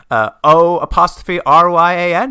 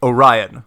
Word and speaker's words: Orion: Orion, O''Ryan? He's like, no, Orion, like the constellation.